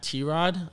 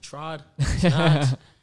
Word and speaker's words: t-rod: on my instagram at t-rod a lot of people pronounce it trod it's t-rod so it's t-r-o-d and